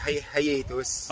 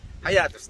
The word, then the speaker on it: Hiatus: Actually, ang pronunciation talaga niyan is hiatus. Oh tama. Hiatus. Pero diba? Since na Pinoy tayo, hiatus na yan.